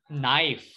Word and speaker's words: knife: That is knife. Knife. No sound of K.